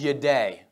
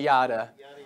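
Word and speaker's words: ידע: about Hebrew and so the way you pronounce this word is your day I know you wanna say yada or looks close to Yoda for those who are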